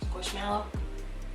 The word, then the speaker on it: Squishmallow: Squishmallow. Squishmallow. Because you say marshmallows, not marshmallows, even though it's spelled with an A and not an E.